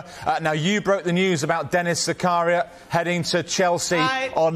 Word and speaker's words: Zakaria: Putting me right on the pronunciation there, Zakaria.